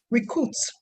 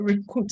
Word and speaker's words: recruit: Someone said recruit. Recruit. It's not recruit, it's recruit.